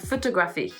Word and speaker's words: photography: we have photography and photography in English we have a stress in the middle of the word photography so talk Rafi and